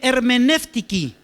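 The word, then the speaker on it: ἑρμηνευτική: Y se lee hermenéutiki. Hermenéutiki. Bien. ¿Por qué? Porque la palabra hermenéutica es una palabra que el español y el portugués le robaron al griego.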